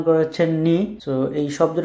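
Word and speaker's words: noc: এরপর হচ্ছে এন, কিন্তু ওরা এন কে উচ্চারণ করে হচ্ছে নি। সো এই শব্দের উচ্চারণ হচ্ছে নস, নস মানে হচ্ছে নাইট।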